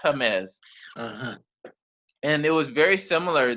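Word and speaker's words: Jemez: j-e-m-e-z it's it sounds like james but it's pronounced hermes and it was very similar that people were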